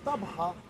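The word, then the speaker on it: Tabgha: De tabegon a tabga, como está escrito lá, dá para entender como sete fontes, heptapegon, virou tabga, que eles pronunciam tabha, que é o nome do outro.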